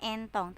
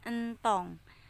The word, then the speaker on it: entong: pertama Ya Entong Entong bukan entonk Tapi bacanya Entong yang ketiga eh yang